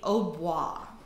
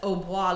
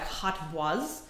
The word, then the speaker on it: hautbois: up calling it was because hautbois looks like hot bois or hot boys, if you do it phonetically, they actually did call it the hot boy for a while there.